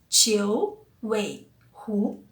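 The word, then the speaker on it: 九尾狐: E a pronúncia de Jiu Weihu, que é a raposa de 9 caudas literalmente, né, é Jiu Weihu, tá?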